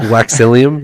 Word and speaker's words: Waxillium: know it I think it's literally like William but without the W and just put wax in there so I think it's